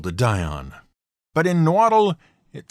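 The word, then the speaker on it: Nahuatl: just can't do oh and no waddle is a perfectly acceptable english pronunciation for the name of the language itself in case you were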